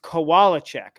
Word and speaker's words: Kowalczyk: It's pronounced Kowalczyk.